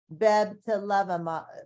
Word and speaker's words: bebtelovimab: Bebtelovimab?